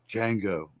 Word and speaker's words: Django: like what's your name he's like Jango and he looks at him he's like Jay is silent he goes I know